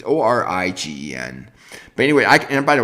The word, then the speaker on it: Origen: I don't know how you pronounce the name. It's Origen.